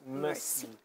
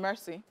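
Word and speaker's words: Mersea: talk about um your so your name is is pronounced merci well it is spelled differently yeah m-e-r-s-e-a so it's a real name Mercy yeah okay so why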